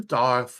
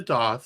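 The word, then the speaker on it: dearth: Well, I had always I had always pronounced it to rhyme with hearth.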